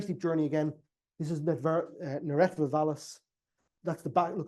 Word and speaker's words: Neretva: So that's the Nedvera. Let me get the pronunciation right. Neretva, not Neretva Vallis.